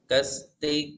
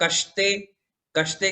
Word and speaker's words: कस्ते: देखो, 's' और ' sh' अलग-अलग हैं। 'समय' में प्रयुक्त 'स' और 'शक्कर' में प्रयुक्त 'श' भिन्न हैं। उनके उच्चारण में अंतर है। अगर आप ' समय' के 'स' के साथ "कस्ते" कहते हैं, तो यह सही है, लेकिन